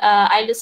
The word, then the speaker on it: islets: we call it as islets of Langerhans, bukan islet, eh? We do not pronounce it as islet, islets.